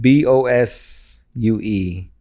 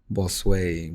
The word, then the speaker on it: Bosue: So bit, not Bosue, Bosue. Bosue. Phonetically, it's Bosway.